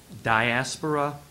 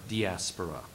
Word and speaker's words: diaspora: Seem to be two pronunciations here, either diaspora or diaspora.